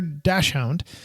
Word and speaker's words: dachshund: and well they are doing the long hair dachshund or the Dachshund depending how you say it